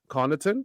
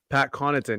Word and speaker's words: Connaughton: But I will say, from Siakam's point of view, he did have Pat Connaughton. That's how you say it, right? It's not Connaughton. It's Connaughton. Pat Connaughton.